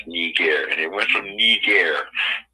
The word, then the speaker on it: Niger: And that'll tell you what the Niger and how to pronounce it. And it's Niger.